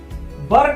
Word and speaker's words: where: देखिए बहुत लोग क्या करते हैं, इस चीज को बेयर पढ़ देते हैं, लेकिन ये बेयर का स्पेलिंग नहीं है, WHERE बेयर का स्पेलिंग होता है। इसको वर पढ़ा जाता है, इसको वाज, इसको वर।